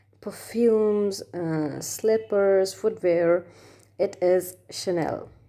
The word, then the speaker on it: Chanel: sells clothes jewelries perfumes slippers footwear it is chanel it's not channel or something else many of you pronounce maybe maybe pronouncing it as channel but